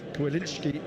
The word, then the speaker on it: Kwilinski: The way it's spelt, Kwilinski is the way it's pronounced.